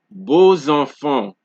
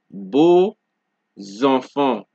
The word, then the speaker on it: beaux enfants: Now, next we have X before a vowel of another word is pronounced, like Z. So, example, disons, beaux enfants. So we have the X at the end of a word, and after that we have a vowel which begins the next word, and because of that, they're being so close together in the same environment, basically, you get that Z sound.